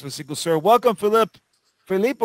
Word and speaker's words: Philipp: Philippe or Philipp? How would you like to pronounce it? It's Philippe. Philippe, yeah.